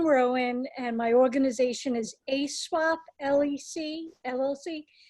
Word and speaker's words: AESWAP: My name is Rowan, and my organization is ASWAP LLC. ASWAP is spelled AESWAP because it's swapping up 16 channels of story content